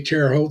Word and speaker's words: Terre Haute: That's the way the French pronounced it. They say Terre Haute. They don't say Haute Terre. They say it backwards compared to the English.